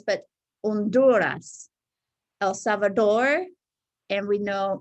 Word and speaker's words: Honduras: And pronunciation of countries, Guatemala, not Honduras, but Honduras, El Salvador, and we know Mexico, okay?